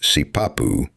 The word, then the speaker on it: sipapu: The term, generally written as sipapu, pronounced sipapu, refers to an opening associated with emergence.